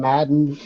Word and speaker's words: Martin: yeah and the Mustang it's french-canadian so Martin as we say New England Madden good oh good you